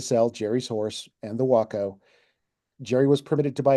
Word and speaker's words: Waco: 1936 Waco, spelled like Waco, the city, but pronounced Waco for it's how the company's pronounced. The 1936 Waco biplane, a two-seater with duplicate controls in the front and rear seats.